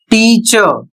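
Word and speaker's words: teacher: तो यहां पर देखिए उदाहरण के माध्यम से यहां लिखा है टीचर। तो यहां पर र हमें नहीं पढ़ना है, इसका उच्चारण होता है टीचर। इतना ही हमें पढ़ना है, र नहीं पढ़ना है।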